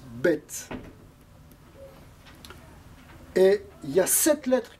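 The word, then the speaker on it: ב: par exemple lettres bête si elle n'a pas de point elle se prononce vet et si elle a un point de dents elle se prononce bête et il ya cette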